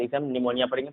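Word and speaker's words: pneumonia: बाद एस हो या पी के बाद बी हो तो पी साइलेंट होता है। जैसे हम पढ़ेंगे पी के बाद एन है तो इसे हम निमोनिया पढ़ेंगे, पी साइलेंट है।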